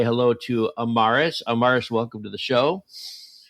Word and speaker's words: Amaris: to the show hello my name is pronounced Amorous by the way I know a lot of people make that mistake but it's okay oh like loving almost yeah yeah yeah yes right amoris okay I love that